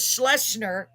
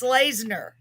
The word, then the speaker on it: Slashner: right so um tim i said it was schlesner but it's slashner we're going to be